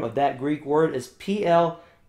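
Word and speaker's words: πλήθω: And the anglicized or English letter form of that Greek word is P-L-E-T-H-O. Pletho is what it looks like to be approximately pronounced as.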